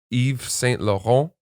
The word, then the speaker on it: Yves Saint Laurent: bottle of champagne, a beautiful lip gloss from Yves Saint Laurent, Oh, God. which is the correct pronunciation, YSL.